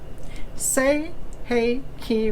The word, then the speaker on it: Sei Hei Ki: that say and then if you want to put the phonetic spelling it's say is s-a-y hey h-a-y key k e y say